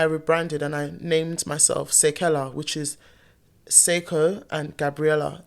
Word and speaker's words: Seikella: So it's actually Seikella, like say and Kella in the name.